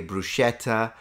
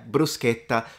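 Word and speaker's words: bruschetta: brusa um they're saying don't say brushetta of course some people say brushetta uh they didn't really take that into account but yeah brusketa this one as well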